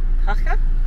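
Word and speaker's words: Jaca: found a mechanic here we're in haka j-a-k-a they pronounce her J's H yeah so we're here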